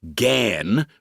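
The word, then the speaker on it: Ghan: So the story of the derivation of the name Gan, pronounced Gan, which most people believe because they are told it over and over, is another self-perpetuating myth, a fury.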